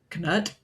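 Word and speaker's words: Cnut: the 9th century uh called Kut. And I think it was the 9th century. It was either the ninth or the 10th. Um, and his name is spelled C N U T.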